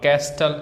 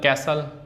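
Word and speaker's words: castle: अब कैस्टल कैसल listen will तो इसमें पता है टी साइलेंट है।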